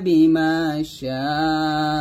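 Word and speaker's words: بِمَا شَاءَ: তো এখন আমরা থামলে সাথে তিন টান দিয়ে হামজাটা আমরা সাকিন করবো, তাহলে শরীর চার টান দিয়ে হামজাটাকে আমরা সাকিন করবো, মানে সাথে চার টান হবে, তাহলে উচ্চারণটা এরকম হবে বিমা শাআ এরকম। তাহলে সাথে হবে ওয়ালা ইউহিতুনা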